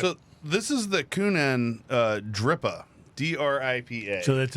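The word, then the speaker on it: Kuhnhenn: beer you'll follow that this is the coonan I think that's how you spray so it's spelled k-u-h-n-h-e-n-n so kunana is what I'm going to call it okay if I'm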